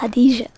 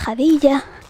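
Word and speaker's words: Jadiya: Bueno, en árabe se se pronunciaría hadija, pero en español hay múltiples pronunciaciones. Una es Jadilla, la otra es Jadicha. Jadicha es solo, exclusivamente para mi pueblo, Tarsis de Huelva. Para el resto solo le permite decir Jadilla. Suena raro en la boca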